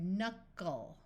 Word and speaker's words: knuckle: This letter U is in the middle of a syllable, so we will try the short sound. So we get knuckle.